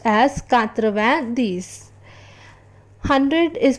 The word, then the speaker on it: quatre-vingt-dix: 90, which is written as QURTRA VENJ ashte DEX and is pronounced as quatre-vingt-dix.